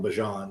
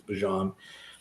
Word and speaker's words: Bijan: Pardon me, he asked us to call him Bijan. That's just how you pronounce it. He was interviewed recently. It's Bijan.